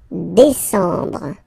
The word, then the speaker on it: décembre: Décembre, décembre, décembre. Same thing. E-M en décembre.